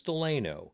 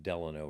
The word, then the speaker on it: Delano: So then in 18 actually 72, they came in and said it's going to be called Delano, named after Columbus Delano.